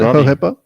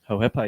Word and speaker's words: Hohepa: Spoke to Hohepa Puru and so that's how we're pronouncing it, Hohepa? Hohepa, yeah.